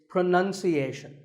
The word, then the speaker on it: pronunciation: pronounce pronounced and pronouncing but pronunciation there's no noun in this word it's pronunciation word number two is